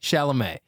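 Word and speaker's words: Chalamet: do you say his name like that Timothy shalam not Timothy shalam Timothy Timothy shalam but now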